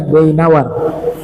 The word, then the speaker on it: Dainawar: Ini bacanya Dainawar.